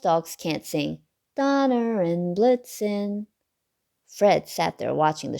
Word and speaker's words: Blitzen: and blitz means lightning blitzen rhymes with vixen sometimes fred would sing